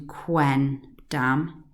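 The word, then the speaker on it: quendam: So the accusative of qui is quem, but here they've changed it to quen dam rather than quem dam.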